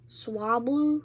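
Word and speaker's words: Swablu: A how you pronounce s wa. Swah and then blu. Swabloo.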